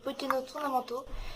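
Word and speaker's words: Pokkén Tournament: Ce jeu, prononcé en japonais Pokken Tournamento, est un jeu d'arcade, d'action et de combat japonais.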